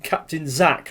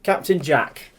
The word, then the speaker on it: Captain Jack: character's name wrong there they say it's called captain zach not captain jack well i'm sorry to say but um see captain jack look on the front